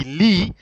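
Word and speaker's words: lit: going to still be Lee but there's a t instead of an S but you see you don't pronounce the T so it is he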